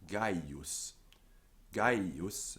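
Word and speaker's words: Gaius: then we have a peculiarity with the name guy use has three syllables um although in less careful speeches is supposed to have three syllables then we have heike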